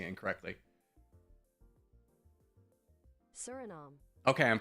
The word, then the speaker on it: Suriname: Suriname. Okay, I'm pronouncing it correctly.